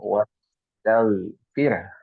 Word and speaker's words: واستغفر: Dan juga go-nya jangan dipantulkan karena bukan qalqalah ya. Jadi kita bacanya wastaghfir, ada haknya.